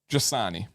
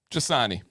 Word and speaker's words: Jasani: I'm going to go Jasani. Silent N. Yeah. Jasani. It's like Dasani, the water, but hey, I got it.